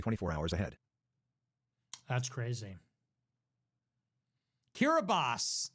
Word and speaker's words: Kiribati: Kiribati is actually how it's pronounced.